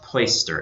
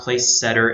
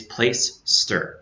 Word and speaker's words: Placester: And that is pronounced Placester. It's not Placesetter, it's not Placaster, it's not Placester, anything like that. It's Placester, Placester.